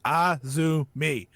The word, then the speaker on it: Azumi: You say it Azumi.